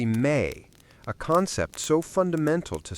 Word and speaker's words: me: The word they used for this act of transference was me, pronounced roughly May, a concept so fundamental to Samrian theology that it resists a clean translation into English.